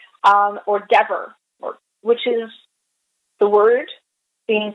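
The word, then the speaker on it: דבר: It's either Debar or Devar, the B's and the V's are the same letter, or Dever, which is the word being to speak, or Dever, which is pestilence.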